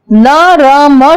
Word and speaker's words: नर्म: मगर जब हम इसका उच्चारण करते हैं तो र का उच्चारण पहले करते हैं और रेफ अगले शब्द पर लगी होती है।